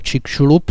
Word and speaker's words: Chicxulub: Tady ten památník je ve městě, které se právě jmenuje Puerto Čikšulub, přístav Čikšulub. To slovo, píše se to Chickulub, čte se to čikšulub.